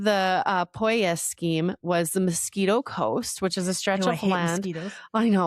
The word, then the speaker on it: Miskito: Mosquito is spelled Miskito. I'm sure there's different inflections there, but Right.